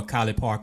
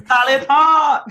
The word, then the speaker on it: College Park: She's running for City Council Ward 1 out in College Park, or College Park is how they say it out here. College Park.